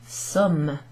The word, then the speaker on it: sommes: Nous sommes. Nous sommes. Nous sommes. Pronounced like the word Somme as in the Battle of the Somme.